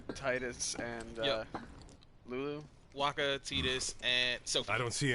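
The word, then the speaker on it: Tidus: and uh Lulu Waka tetus and Sophie I don't see any Intruders tetus ice I pronounce it in the Japanese fashion in which case T is T not Tha oh okay oh and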